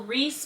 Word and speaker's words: Rhys: So Rhys Marcel, his name is spelled R-H-Y-S.